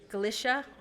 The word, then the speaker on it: Galicia: Galicia.